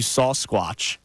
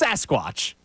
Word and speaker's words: Sasquatch: He said, I love me some barbecue sauce squatch. You say it like sauce. Barbecue sauce squatch. Sauce squatch. It's Sasquatch.